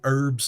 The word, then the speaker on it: herbs: By my calculation, nothing less than 11 herbs and spices. Oh wait, I pronounced the H, didn't I? We need to ditch that H. Hang on. By my calculation, nothing less than 11 herbs and spices are required